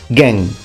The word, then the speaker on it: Gen: Gen. Again, the Japanese pronunciation of a Chinese character, which you would read yuan.